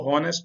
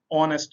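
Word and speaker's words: honest: इसको हॉनेस्ट नहीं कहना आपने, ऑनेस्ट कहना है। एच जो है वो साइलेंट है, खामोश है।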